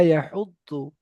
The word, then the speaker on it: يحض: তো এখানে এই দোয়াদের উচ্চারণটা না ডাইরেক্ট দ হবে আর না ডাইরেক্ট জ হবে। দুটোর মাঝখান থেকে যু, ওয়ালা ইয়াহুদ্দু।